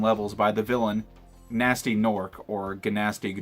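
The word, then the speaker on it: Gnorc: by the villain nasty nork organ asking NORC in this game the pronunciation changes depending on which game you're playing and apparently he has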